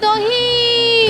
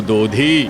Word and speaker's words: দধি: দহি বিক্রি আছে, দহি। থামো, কথাটা দহি নহে, দহি নয়, বলো দধি।